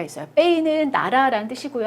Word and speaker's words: pays: pays는 나라라는 뜻이고요. 여기 끝에 자음이라서 발음하지 않아요. pays, 국가, 나라.